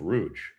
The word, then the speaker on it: Rouge: no, no, no, this No, actually no, I mispronounced it. That's that's not Rogue. That's Rouge. Rouge.